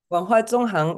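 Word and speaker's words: 文化纵横: Wenhua Zongheng.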